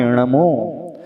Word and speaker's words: णमो: लेकिन जब हम एनर्जी को चेक करेंगे तो एनर्जी लेवल न के उच्चारण में बहुत ज्यादा प्रोड्यूस होता है, बढ़ता है। हमारी टंग जो है, जो जीभ है, उस न के उच्चारण से मेहनत ज्यादा करनी पड़ती है। तो वो ण बोला हमने णमो, तो णमो शब्द अपने आप में अब बहुत सारी एनर्जी पैदा करने वाला होता है।